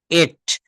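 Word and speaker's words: ate: আর এর ভিটু হবে এট এট অনেকে কিন্তু ট ফেলে ট আই ট রাইজ এটা কিন্তু একটা ভুল কথা আপনি বলে ফেললেন ইট এর পাস্ট ফর্ম ট হবে না এটা হবে এট আমরা গো ওয়েন্ট গন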